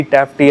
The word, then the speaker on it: Taft: ये ड heart suit टेफ्ट है टी एफ टी टैफ टी I think इसको प्रोनाउंस कर भी कुछ लोग कहते हैं टेफ्ट भी कहते हैं भी ठीक है